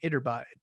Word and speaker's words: Iturbide: under a guy named Iturbide. Gotta not read it and actually pronounce it like it's a Spanish word.